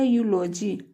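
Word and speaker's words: eulogy: Next है ई यू का उच्चारण यू की ध्वनि में, ई यू का उच्चारण बड़ा ऊ की ध्वनि में, ई यू का उच्चारण बड़ा यू की ध्वनि में। जैसे हो गया यूलॉजी, यूलॉजी, ई यू एल ओ जी वाई, यूलॉजी, यूलॉजी में सोचता है स्तुति ज्ञान, स्तुति ज्ञान।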